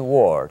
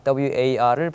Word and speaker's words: war: 얘기할 적에 the korean war 중요한 것은 발음상의 문제가 War 발음하죠 그냥가 아니고 War 이렇게 입모양을 둥그렇게 하신 다음에 발음을 하셔야만 됩니다 많은 분들이 이걸 틀리게